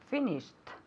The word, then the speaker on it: finished: Finished. Okay, good. Is it a T or a D? A T. It's a T, exactly. Finished, okay? That's why it has that sound at the end.